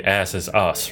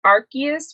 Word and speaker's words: Arceus: name is Arceus Australia we say asses us right yes when you said that I was like that's a no nothing so he's his name is supposedly supposed to be pronounced Arceus which is a Pokemon God that's my dog my